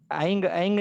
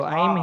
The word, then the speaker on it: ऐं: ऐंग ऐंग नहीं होगा उसका कभी? नो, आगे ह्रीम है। अच्छा, तो ऐम ही होगा, ऐम रिम क्लिम।